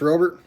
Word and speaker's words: Robert: Luis Robert. I watched a video with his name pronunciation, and it's like Rober. It's different.